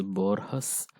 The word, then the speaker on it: Borges: See the pronunciation, it's Borges, Juan Rulfo.